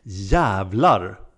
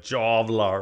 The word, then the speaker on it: jävlar: can be used to build longer expressions It's pronounced jävlar ja you didn't think that you probably thought it was like javlar or something but it wasn't Here's A sentence